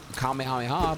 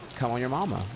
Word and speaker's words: Kamehameha: I thought it was Kamehameha, but they said come on your mama.